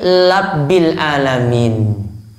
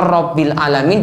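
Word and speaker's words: رَبِّ الْعَالَمِينَ: Alhamdulillahi labbil alamin. Ro jadi lam. Harusnya robbil alamin diubah jadi labbil alamin.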